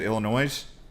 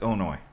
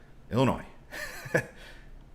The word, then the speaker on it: Illinois: They're like, the S is silent in Illinois. And I was like, I knew that, but I forgot it when I said it. I said Illinois. It's Illinois. Illinois.